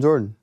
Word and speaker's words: Jordyn: I just call him Jordan. That's amazing. But it's spelled Jordyn.